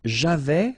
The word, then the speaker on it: j'avais: J'avais, final S not pronounced.